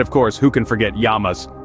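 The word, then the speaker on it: Γεια μας: thank you and of course who can forget yamas pronounced yamas a common toast you'll hear at Greek tavernes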